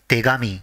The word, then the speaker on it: tegami: When they are combined, it is pronounced as tegami.